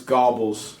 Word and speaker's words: Goebbels: be fair it's garbage everyone is mispronouncing it it's gobbles it is called it's it's Joe EF gobbles it's Joe sure gobbles dude imagine imagine